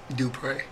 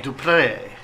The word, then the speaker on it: Dupree: Oh, and by the way, it's pronounced what you do when you go to church. Dupree. It's Dupree.